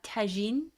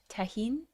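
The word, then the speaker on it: Tajín: Have you guys ever tried uh tajin? Tahin. I'll spell it in the chats.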